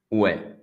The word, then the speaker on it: oui: Comment on prononce oui? Ouais.